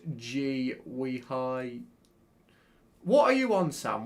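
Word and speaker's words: Guéhi: It's pronounced G-we-hi.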